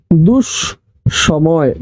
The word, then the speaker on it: দুঃসময়: সময় দুঃসময় উচ্চারণটা হবে দুষ সময় দুষ সময় উচ্চারণ কি